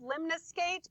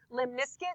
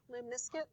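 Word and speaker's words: limaçon: which I've heard pronounced limus skate but I don't think that's right because the majority of what I hear is Lim nisc so it rhymes with Limp Biscuit Lim nisc and that's what's happening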